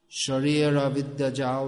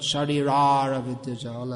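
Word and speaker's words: শরীর অবিদ্যা-জাল: Sharira Vidyajal, that's Bengali, not Sharirara Vidyajal, as is often heard.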